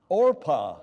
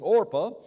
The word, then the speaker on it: Orpah: anybody remember her name it rhymes with Oprah orpa all right orpa I